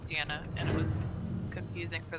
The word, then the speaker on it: Deanna: is it pronounced deanna because i went to school with this girl who spelled it d-e-a-n-n-a and her name was pronounced dina and mine was diana and it was confusing